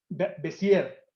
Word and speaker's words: Bézier: El fundamento de todo esto es unas ecuaciones y unas fórmulas de un matemático francés que se llama Bézier. Creo que se pronuncia Bézier, pero es Bézier.